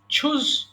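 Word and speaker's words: choose: আচ্ছা এরপরে বলেন চুজ পছন্দ করা, চুজ, চোজ, চোজেন। আচ্ছা আমরা একেবারে ছোটবেলা থেকে চ পড়ে এসেছি তাই না? চয়েস, চুজ। অর্থাৎ এটাকে আপনারা ছ উচ্চারণ করবেন, সঠিক উচ্চারণটা জানতে হবে।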